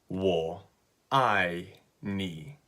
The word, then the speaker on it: 我愛你: so it's really simple it's three syllables wool I nee okay and just like